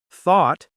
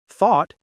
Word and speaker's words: thought: But listen to how they're pronounced: though, through, thought, and tough. 4 different sounds from the same group of letters.